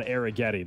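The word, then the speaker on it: Arrighetti: And we have settled in on Arrigetti. That's what we're going with.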